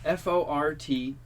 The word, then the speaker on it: forte: How do you pronounce Forte? You go first. Forte. Yeah, forte. Forte. Okay, because this showed up on a million lists. Apparently, everybody says it wrong. Okay. Supposedly, it's just fort.